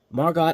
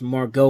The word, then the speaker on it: Margot: E is silent so I guess here the t is silent but uh anyway we're